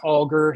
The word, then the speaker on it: Alger: first off let's start with who was Fanny Alder okay or actually the family says that the name is pronounced AAR so I will try to say it that